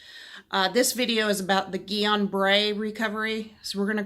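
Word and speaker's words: Guillain-Barré: hacks on wellness this video is about the Gion Bray recovery so we're gonna call Gyan bere GPS because it's really hard to say it's actually pronounced ee on Bray it's French so today we're gonna discuss the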